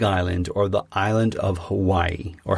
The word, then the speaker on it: Hawaii: So I flew to the Big Island, or the island of Hawaii, or Hawaii, as it's actually properly pronounced.